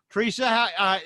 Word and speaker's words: Theresa: It is Therese. Teresa. Okay, so the H is silent, basically.